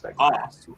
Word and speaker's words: Stegemeyer: Did I pronounce Stegemeyer right, or is it Stegemeyer like Stegosaurus? No, you got it right the first time. It's Stegemeyer. Awesome.